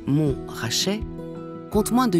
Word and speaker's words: Montrachet: et de Chassagne Montrachet l'appellation mon rachait prononcée mon rachet compte moins de 8